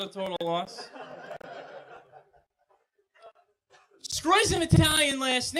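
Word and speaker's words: Sgroi: My name is Scroy. That's my last name. It really is. It's only 5 letters. It's spelled S-G-R-O-I.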